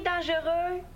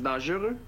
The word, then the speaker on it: dangereux: Comment ça s'écrit dangereux? Épelle-le... Je le sais pas. Bien force-toi. D-A-N-G-E-U... Oup! oup-oup... Pas de U? Est-ce qu'on dit "dangeureux"? Des fois. On devrait pas. Il n'y a pas de U.